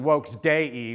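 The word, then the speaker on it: Vox Dei: It's literally supposed to be Wokes Day, if you know how to pronounce Latin, Vokes Dei, which means the voice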